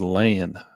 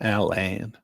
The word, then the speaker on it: Lan: Uh, my name is Lan, not Alan. Alan.